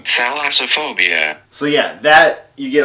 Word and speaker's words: thalassophobia: What's that word? Thalassophia? Is that how you pronounce it? Thalassophia, fear of the ocean. This is what I'm saying. Thalassophobia.